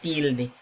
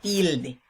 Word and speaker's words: tilde: acento solamente no lleva tilde por alguna norma ortográfica que vamos a ver hoy aquí vemos por ejemplo la palabra tilde vemos que steele se pronuncia con mayor intensidad y de con menor intensidad pues la sílaba que